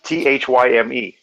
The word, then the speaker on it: thyme: THYME. Yes, it's time.